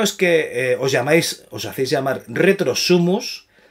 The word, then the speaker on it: Retro Sumus: Retro Sumus. No, que nunca lo pronuncian bien.